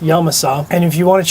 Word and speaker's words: Yamasa: That's right, pronounced Yamasa, not Yamasa, pronounced Yamasa.